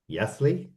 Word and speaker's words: Jaissle: manager called now obviously you know me pronunciation of of babes is Matias Yasley Yi yeah something like that